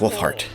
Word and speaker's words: Wulfhart: and we are playing hunters we are Markus wolf heart yes I got his name right Ulfric wolf